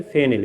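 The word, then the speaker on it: phenyl: और उसी पे ये ग्रुप है, तो इस बेंजीन रिंग को हम क्या कह सकते हैं, फेनिल या फिनाइल भी बोलते हैं, कुछ लोग प्रोनाउंसिएट करते हैं, तो फिनाइल, ठीक है, तो क्लोरोफिनाइल हो जाएगा, ठीक है, तो क्लोरोफिनाइल हो जाएगा।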